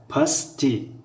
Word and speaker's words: пастӣ: Аммо решаи калима пастия пастӣ пастӣ ударение дар и аст. Пастӣ.